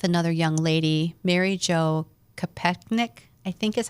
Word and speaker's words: Kopechne: And so he was talking with another young lady, Mary Jo Kopechne, I think is how you say her last name.